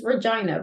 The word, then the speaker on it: Regina: main one sort of default pronunciation of this word is Regina because of the town called Regina Saskatchewan of course and so